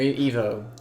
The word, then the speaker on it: Ivo: Ego Shandor. Or Evo. I pronounce him either way.